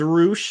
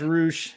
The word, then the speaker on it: Rush: Yeah, but it's pronounced Roosh, and then you got to roll the tongue.